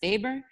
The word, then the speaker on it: Weber: that theorist, Weber, but it's pronounced Weber because it's German.